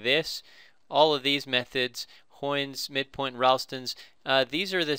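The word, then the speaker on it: Heun's: So I looked up the pronunciation. So this guy's name was Karl Hoyne, which is a German name, and so you say it Hoyne's method. So it rhymes with coin.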